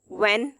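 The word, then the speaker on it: when: व्हेन, H silent कर दें तो भी ये व्हेन ही बनेगा।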